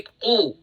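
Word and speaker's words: قُ: Saya bilang kaf, tapi seharusnya qof. Jangan ucapkan 'ku', tapi 'qu' .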